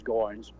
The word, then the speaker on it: Goins: Everybody called him Goins. It's spelled G-O-I-N-S, I see. but his name was Goins.